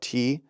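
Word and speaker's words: Türkiye: The spelling, I think this is how people in Turkey had always spelled it, but the State Department actually announced we're going to spell it Turkiye. Yeah, like Turkey.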